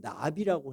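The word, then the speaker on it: נביא: 또는 나비라고 해요. 우리 날아다니는 나비가 아니고 히브리어로 나비 발음이 그 뜻은 뭐냐면은 대변자, 하나님의 말씀을 전하는 자야.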